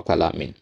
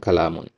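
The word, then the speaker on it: كَلَامٌ: Ini berarti kalamun atau kalamin. Dan yang benarnya adalah kalamun.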